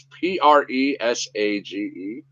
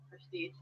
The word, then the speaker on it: Presage: It's Presage. Prestige. It's not, no, Prestige. There's no T.